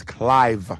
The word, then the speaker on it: Clive: Well, my name is Clive, C-L-I-V-E, like Clive Davis, who gave Whitney Houston, her big break.